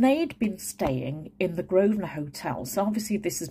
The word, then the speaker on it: Grosvenor: So anything that's got a Grosvenor estate or Grosvenor, and that's spelt with an S in it. So it's G-R-O-S-V-E-N-O-R. So the Grosvenor Hotel.